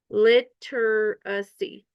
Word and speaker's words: literacy: The IPA pronunciation is literacy. Literacy. A phonetic, we might say literacy if we're saying it more slowly. Literacy or literacy.